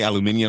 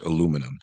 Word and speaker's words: aluminum: I said, do you have any aluminium?